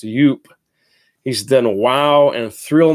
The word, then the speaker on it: Joop: the ladies you are Joop it's actually pronounced youp he's done Wow and